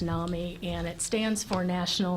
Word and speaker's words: NAMI: pronounced nah me and it stands for